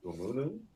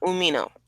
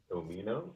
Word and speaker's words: Umino: But Shota Umunu, is that how you say it? Shiota Umino. Umino, yeah, aka Red Shoes, the referee's son, Yes.